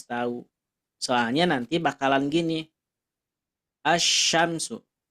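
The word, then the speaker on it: الشمس: soalnya nanti bakalan gini asyamsu Kenapa dibacanya As enggak Al gitu ya berarti kalau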